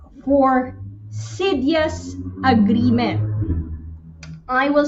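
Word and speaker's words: Xydias: four Maritime letter X actually letter X for Sidious agreement I will spell that for uh law students is x y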